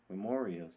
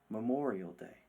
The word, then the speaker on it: Memorial Day: I asked Papa Joe if I could sing a song to help celebrate Memorio's Day. "Okay, Bobby," he said reluctantly, "but it's pronounced Memorial Day."